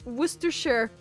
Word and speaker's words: Worcestershire: how it's pronounced it's worcestershire and sauce but it's like written like worcestershire but it's pronounced with sister sure no worcester worcestershire